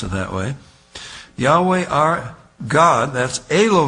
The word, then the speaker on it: Yahweh: that's why HWH Yahweh Jehovah we want to pronounce it that way Yahweh our God that's a low heme that is